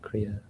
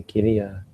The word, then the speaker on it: kiriya: Maybe it is spelled kriya. In Thai they say kiriya, but I seem to remember it might be pronounced kriya as well. Kriya means that which is simply done.